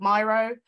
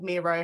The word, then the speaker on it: Miro: thematic analysis onto a an online platform called Myro um or Miro however you want to pronounce it um which is again a really